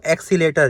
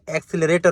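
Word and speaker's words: accelerator: कुछ लोग बोलते हैं इसको एक्सीलेटर, ये एक्सीलेटर नहीं होता, ये एक्सीलरेटर होता है।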